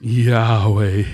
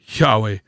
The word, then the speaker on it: Yahweh: a pretty important name Yahweh you know when you pronounce it Yahweh it's supposed to sound like a breath which comes down to